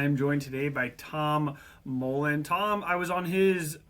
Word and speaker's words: Mouland: Um so, my name is Tom Tom Mullen, um often pronounced as Mullen, and either's fine.